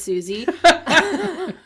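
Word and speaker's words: Siouxsie: we totally bang says susie a tulpa hosted by kelson who wanted his tulpa susie's the tulpa it's spelled s-i-o-u-x-s-i-e i guess you're asking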